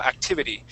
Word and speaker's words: activity: So the first T will not have a D sound. Activid, but the last one will. Activity. So activity is spelled like that. Okay. Right. But that second T will sound like a D.